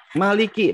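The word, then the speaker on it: ملك: Kemudian Malik Yaumidin, panjang pendek di sana, Bu. Malik. Coba di mushaf Ibu. Panjang Mimnya di sini? panjang. Pendek. Pendek ya? Pendek. Naumiddin. Maliki dibaca pendek.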